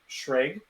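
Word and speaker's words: Xlar: uh is uh it's it's spelled x-l-a-r it's pronounced um shrig uh it's weird they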